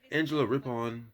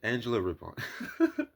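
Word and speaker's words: Angela Rippon: And the host of the night, Angela Ripon, that's how you say it. Angela Ripon, was a great choice for the event.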